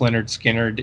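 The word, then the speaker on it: Lynyrd Skynyrd: i'm not the biggest leonard skinner fan in the world but tuesday's gone from pronounced leonard skynyrd is my favorite all-time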